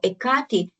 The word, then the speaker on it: Ekati: So Ekati, it's a Greek pronunciation of the ancient Greek goddess, a goddess, Hekate.